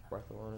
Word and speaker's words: Barcelona: what Spanish City Jen Barcelona correct balona they like to pronounce it with the th don't they Barcelona any Spanish nerds no